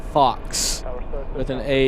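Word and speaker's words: faux: a fa leather jacket personalized to him it's pronounced Fox with an au U instead of an O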